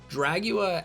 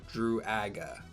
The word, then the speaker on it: Druaga: Dragula has a oo-ag sound in it, which is uncommon in the English language, like Druaga, oo-ag, right?